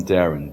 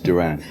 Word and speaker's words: Duran: I did pronounce his name Duran, right? Yeah, yes, he's okay. I always call him Darren, but then it's Duran.